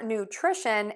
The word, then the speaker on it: nutrition: Now for nutrition and nutritious, what we are going to do is we're going to shift that stress to the to that middle syllable.